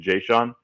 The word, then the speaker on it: Jayshon: to the practice squad, a guy named Jayshon Jones, I believe is the pronunciation, Jayshon.